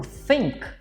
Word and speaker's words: think: Agora o think, eu tenho que falar com esse th, pronúncia simples. Vou ensinar rapidinho aqui para vocês, ó. Th, língua aqui na ponta do dente, você não vai falar nada, você vai só assoprar.